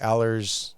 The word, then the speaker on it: Alers: Alers, yeah, there we Alers.